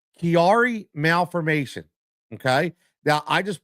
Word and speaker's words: Chiari: I had to look up the pronunciation cuz I wasn't sure. It's called Kiari Malfformation. Kiari Malfformation.